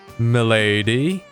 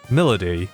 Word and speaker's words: Milady: going to introduce called milady actually it's pronounced melody she's a devil sumner